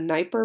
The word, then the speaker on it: Dnieper: It's going to be built on a river called the Dnieper River. The D is silent. A Dnieper River that connects right to the Black Sea, which is going to bring them into contact with Constantinople.